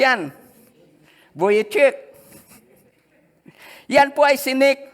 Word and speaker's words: Vujicic: Paano ba i-pronounce yan? Vujicic.